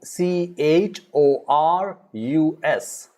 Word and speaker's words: chorus: blue are the letters if h is followed after that then it is usually it is silent all right like say for example c h o c h o r u s all right chorus means